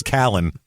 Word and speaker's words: Calhoun: Literally 3 out of 4 murders I find in Alabama are in Calhoun County, which they say it's Callan. That's how they say they pronounce it there.